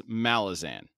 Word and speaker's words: Malazan: of the series internally I have always pronounced malazin as Malazan Billy informed me that Stephen Erickson himself has confirmed that this is the correct pronunciation and this was relatively